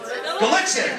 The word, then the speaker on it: Gallitzin: What's it pronounced? Gallitzin. Yeah, I drove by it and I go, what solar system are we in? Who names their city Gallitzin?